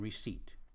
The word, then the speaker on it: receipt: represent silent letters like the italic silent p in receipt vowels are a e